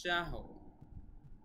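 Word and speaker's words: شهر: খায়রুম মিন আলফি শাহর। এখানে যজম হয়ে যাবে প্রিয় শিক্ষার্থীবৃন্দ, পাশাপাশি দুটি যজম হলে উচ্চারণটা এরকম হবে, শাহর, শাহর।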